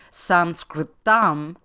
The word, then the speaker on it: Sanskritam: I have been taught the transcendent nature that properly pronouncing the word Sanskritam, which is the way to say the name of the language Sanskrit, activates the pineal gland